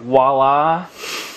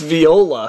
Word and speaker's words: Viola: Frank Walla. It's Viola. I know. It's not even spelled like Incaviglia.